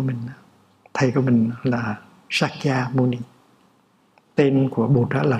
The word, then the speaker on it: Shakyamuni: Bây giờ mình phải đọc lại cho đúng. Shakyamuni, Bụt Shakyamuni, đó là tên đúng của Ngài.